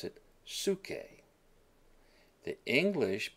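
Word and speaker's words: ψυχή: And we pronounce it suke.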